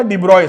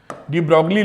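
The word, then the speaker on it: de Broglie: डिब्रॉय से। डिब्रोगली लिखते हैं। स्पेलिंग देख लेना।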